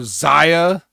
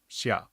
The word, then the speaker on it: Xia: but are they going to still call her Zia or they going to let her pronounce her name the way it's actually pronounced because that is her real first name Shia okay I'm looking at it now xiaa or